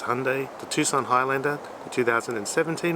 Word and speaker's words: Hyundai: but it's completely wrong apparently it's meant to rhyme with sunday so it's hyundai the tucson highlander the